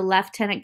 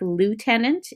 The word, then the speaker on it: lieutenant: at the very top the left tenant governor it may look to you like lieutenant in the United States that's how they pronounce it but we come from a British background and that's how they pronounce it and we always will they are what's called